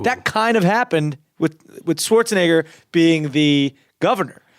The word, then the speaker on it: Schwarzenegger: Did you ever meet Arnold Schwarzenegger? Well, No. you're gonna meet him right now. Now you pronounced my name wrong.